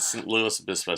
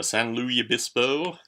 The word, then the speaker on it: San Luis Obispo: This is a review of Captain Nemo and St. Louis Obispo. San Luis Obispo. Gotta say it like it is.